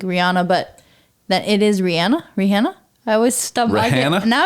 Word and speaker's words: Rihanna: I think it's Rihanna. Technically. Like, which you would assume, like, she's from Trinidad. Like, you would think it's Rihanna. I would just think Rihanna, but that it is Rihanna?